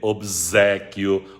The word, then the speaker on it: obséquio: alá É também Portugal coloca o som de z obséquio obsequiar por obséquio muito esquisito isso